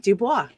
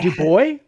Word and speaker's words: Du Bois: Of course I know how it's pronounced. It's W-E-B Du Bois, not Dubois.